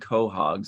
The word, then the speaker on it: Quahog: difference between clams and quahogs it says the Quahog pronounced Quahog is a species of